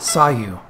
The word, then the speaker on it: Sayu: right migi and left Haddadi are combined it's pronounced sigh you as your a Idol Apsara fine your